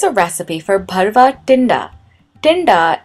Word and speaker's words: tinda: recipe for bharava tinda tinda is an extremely difficult word to say if you're not familiar with hindi or any other indian language and you're trying to pronounce this then i wish you the best of luck you have to roll back your tongue and hit the t like in the word totally not the word mat or you could just